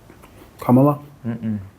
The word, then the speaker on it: Kamala: Yeah, I like him more than Kamala. you can't say it like that. Kamala. She's not a camel.